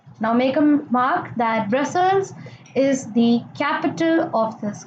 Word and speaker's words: Brussels: Now make a mark that Brussels is the capital of this country. So here adds up a big thing to your knowledge that Brussels, this pronunciations goes like Brussels.